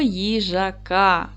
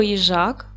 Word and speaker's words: їжак: і звуків Давайте перевіримо поділимо слово на склади їжак наголос буде падати на другий склад буква ї стоїть на